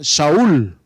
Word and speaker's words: Saúl: la aorta de subida saulo viene de una palabra hebrea que se pronuncia saúl y saúl en hebreo